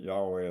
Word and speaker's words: Yahweh: um yod wave and there is a uh quite a bit of difference on how it should be pronounced and but U most of the Sacred name assemblies agree that Yahweh is about as close as he as we know to get to it yua stated emphatically that